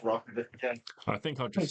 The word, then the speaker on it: roc: a French accent yeah it's basically just rock I think I'd just say rock rather than potentially being